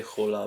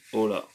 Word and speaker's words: hola: a raspy raspyha h but the h is silent you don't say hola but you say hola let's do it let's